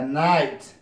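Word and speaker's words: night: لکه فایت لکه دا د جی ایچ نه تلفظ کېږي فایت لکه نایت نایت د جی ایچ نه تلفظ کېږي نایت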